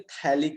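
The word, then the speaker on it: phthalic: पी यहाँ पे silent रहता है, हाँ बिल्कुल प्रत्युष, पी यहाँ पे साइलेंट रहता है, ठीक है। So this is known as थैलिक acid. सबसे पहले करते क्या है कि थैलिक एसिड को क्या करते हैं, रिएक्ट कराते हैं।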